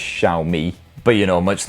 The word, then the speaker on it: Xiaomi: X or shamwa well I've been explicitly told by xiaomi Executives that is pronounced xiaomi but you know much